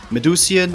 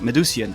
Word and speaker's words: Medusian: an International interview I'm very pleased to have medusan I hope I pronounced medusan correctly I forgot to ask that though is